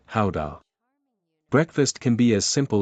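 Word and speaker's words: Gouda: Guda cheese, the pride of the nation, pronounced ha.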